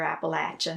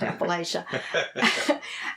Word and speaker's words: Appalachia: living in Appalachia right as we pronounce it here Appalachia not Appalachia um you you know